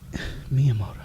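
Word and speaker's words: Miyamoto: Miiamoto. Is it really Miiamoto? Is that like a Japanese thing? Yeah, that's how you pronounce it.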